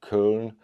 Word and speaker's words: Köln: Like Cologne in English, Köln in German, Köln. I was told that it's pronounced kind of like kernel, that but not so much of the R, kernel. I don't know, Köln.